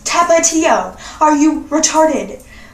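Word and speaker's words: Tapatío: You mean Tabaggio? I'm like, what the fuck is Tabaggio? That's how you say it. I'm Mexican, I should know. Tabaggio? Excuse me, it's Tapatio.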